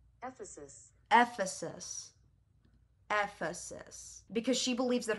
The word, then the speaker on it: Ephesus: How to pronounce... Ephesus. Ephesus.